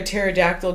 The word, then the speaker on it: pterodactyl: can't you hear a pterodactyl going to the bathroom why because the p is silent that was my reaction